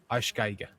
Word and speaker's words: Arschgeige: How many syllables am I supposed to be putting in there? Arschgeige? Because there's Arschlich. EI, like I. Arschgeige. Arschgeige.